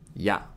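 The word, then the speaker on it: や: Momo Momo means Peach is pronounced like yeah in yat in British English it sounds like yeah in Yak see how this kind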